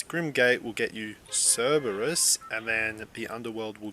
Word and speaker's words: Cerberus: Alright, so I looked up the right pronunciation. Looks like I was just saying it wrong. It's actually Cerberus, so that's how you say it.